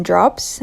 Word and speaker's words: Dropps: I buy my dishwashing and laundry detergent from Drops. That's spelled DROPPS.